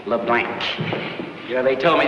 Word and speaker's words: LeBlanc: That's capital L, small e, capital B, small L, A, N, and a hard C. LeBlanc.